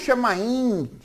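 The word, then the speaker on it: shamayim: nem os universos, né, nem os chamaim, que na verdade é o termo usado em hebraico, é a pronúncia em hebraico, também existia.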